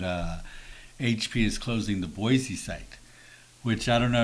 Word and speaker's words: Boise: And when I lived in Boise, I was told that that's how you say it. You say the word boy and then you say the letter C. Boise.